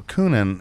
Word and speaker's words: Kuhnhenn: that's uh I would it's K u hn h en n so Coonan is what I would say we tried to contact